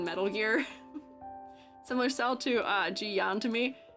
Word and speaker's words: Jiyan: Similar style to Jiyan to me. Oh wait, Jian? I think I was saying his name wrong before.